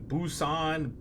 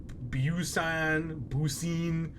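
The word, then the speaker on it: buccin: subsequently faded into obscurity not everyone agrees how to pronounce the name of the instrument with variants including busan busan hey i got all right that's super bone boucine it's like poutine or booty maybe they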